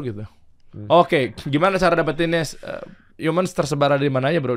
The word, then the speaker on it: HMNS: ya di situ aja Humans offline Store hmns offline Store HS offline Store coba offline Store dulu ada yang bilang sama gua tuh hmns tuh katanya bacanya haru manis kat Bro Har manis